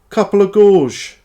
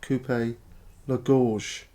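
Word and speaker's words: coupe-gorge: Couple of gorge, which is a mispronunciation of coupe la gorge, meaning cutthroat.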